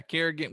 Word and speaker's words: Kerrigan: Yeah, Kerrigan, which he's gotten to the older side, but